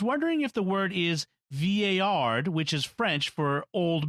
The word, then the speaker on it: vieillard: email, I was wondering if the word is vieillard, which is French for old man. In anglicized pronunciation, one would pronounce it Valeyard.